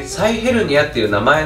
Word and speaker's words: 臍ヘルニア: ね僕らはヘソヘルニアって書いて臍ヘルニアって読みますけれどで嘘が